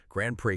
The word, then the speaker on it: Grande Prairie: But we're focusing on a very specific, really dynamic spot in northwest Alberta, the Grand Prairie that's pronounced Grand Prairie Green Corridor.